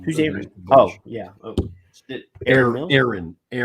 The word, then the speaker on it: Erin: Oh, Erin. Actually, it rhymes with Karen, but anyway.